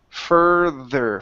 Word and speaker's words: further: R into the th you're saying F further okay so it's fur further further further there you